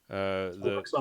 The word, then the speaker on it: Al-Aqsa: And then there was a report that how do you pronounce that? Al-Aqsa Mosque.